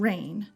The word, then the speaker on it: reign: Her name is Rein, which is special because it has two homonyms, Rein and Rein, R-E-I-N and R-E-I-G-N.